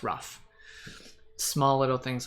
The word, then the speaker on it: Ruf: stuff like this like for my name people are like is it or rough so I just put in a little thing hey it rhymes with stuff okay now you know it's rough small little things like